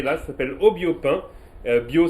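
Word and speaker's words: biau: Bio, ça s'écrit B-I-A-U, c'est bio chez Normand.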